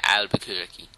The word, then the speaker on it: Albuquerque: should I taken that left on albuquer yeah Albuquerque yeah that's how it's pronounced toy I love glados's Fe feeble attempts